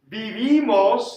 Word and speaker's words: vivimos: Vivimos, and that's where I get my IMOS. Remember, Spanish I says E, and that's what throws people off with pronunciation. But it's imos, IMOS.